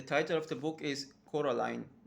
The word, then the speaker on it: Coraline: And she meets with some other neighbors, and all the neighbors actually get the name wrong, Caroline, something like that. But the name is Coraline.